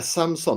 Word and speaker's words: Samson: This is a Samson, not like the TV company. It's spelled Samson, and it is it is the beginner's podcaster's recommendation.